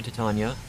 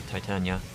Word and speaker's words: Titania: to be close to titania or titania depending on how you want to pronounce it i believe it is actually titania okay she is going